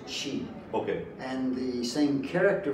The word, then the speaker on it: qi: c sound okay so when you see Qi it's still pronounced Chi okay and the same